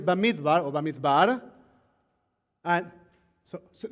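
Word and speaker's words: במדבר: in here right that the name of the book in hebrew is bamit bar or bamit bar and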